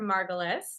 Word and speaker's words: Margulis: And today we have a special guest with us named Jennifer Margulis. Did I pronounce it right?